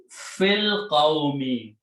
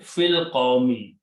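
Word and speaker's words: في القوم: And when you read together, do not pronounce this alif. It becomes hamzatul wasl. Fil qawmi. Among the people. Among the people. Okay. Fil qawmi.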